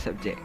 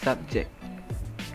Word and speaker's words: subject: first word is subject there are two ways to pronounce subject the first one is subject the second one is subject the difference is subject subject the use of the first